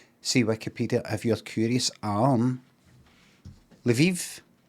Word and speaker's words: Lviv: Lviv. Lviv.